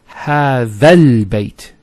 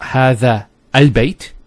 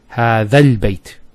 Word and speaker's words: هذا البيت: It's هذا البيت. So it's not هذا البيت. You don't pronounce this hamzat al-wasl here. So you go from this alif to this lam. هذا البيت.